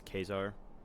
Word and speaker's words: Caesar: Julie Caesar guess a Caesar all that you know all that jazz it's not actually pronounced Caesar it's pronounced um I believe it's pronounced kesar as in like the German Kaiser it's it's kesar books oh I think